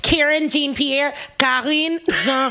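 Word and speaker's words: Karine Jean-Pierre: jean-pierre if you guys want to know the pronunciation i know a lot of people are karen jean-pierre yeah so they didn't made her the press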